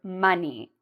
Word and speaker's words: money: So you really need to pronounce this part of the word. I notice some of my Brazilian students don't pronounce the E strong enough. So when you pronounce this word, you really need to say E, money.